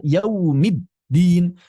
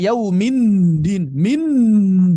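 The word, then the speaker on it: يوم الدين: Demikian pula, misalnya, pembacaan yaumiddin, pertengahan. Anda tidak bisa membacanya sebagai yaumind minin. Tidak bisa dibaca seperti itu. Yaumiddin. Yaumiddin. Middin. Hati-hati jangan sampai menjadi 't'.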